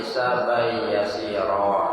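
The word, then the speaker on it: حسابا يسيرا: Bacaannya Allahumma a'tini kitabi biyamini wa hasibni hisaban yasira. Itu bacanya hisaban. Karena kan tanwin bertemu ya hukumnya apa? Hisaban yasira.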